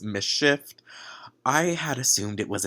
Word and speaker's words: MSCHF: So I realized quickly after filming this video that the company name is actually pronounced Mischief.